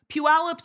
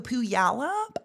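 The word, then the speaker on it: Puyallup: I have no I don't know the history on how the it's spelled. I always love people trying to say isqua. Yeah, snowqualami. Snowqualami pass. Puallup's usually the super up one.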